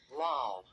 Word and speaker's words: loll: But the other version is past simple and past participle of LOLL, which is a verb to sit, lie, or hang down in a relaxed, informal, or uncontrolled way. Lol. And that is pronounced Lol.